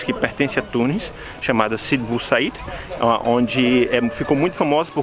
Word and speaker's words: Sidi Bou Said: Can you pronounce again the name of this? Sidi Bou Said.